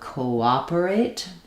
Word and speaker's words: cooperate: So cooperate. The IPA would be um co. You're not going to see the w in the dictionary. You're just going to see the O and the A, but I'll write it there. That's what's happening. Cooperate. Um, so cooperate. Cooperating. Cooperated. All the same stress on the um co stress on the a syllable.